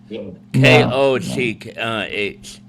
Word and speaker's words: Koch: Do you know Do you know um Do you know the um the Koch brothers? The Coca-Cola brothers? No, the Koch brothers. K O C H. It is pronounced Koch brothers.